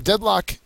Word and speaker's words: deadlock: 13113 um so a deadlock uh is a noun and a verb the first syllable is accented the noun definition a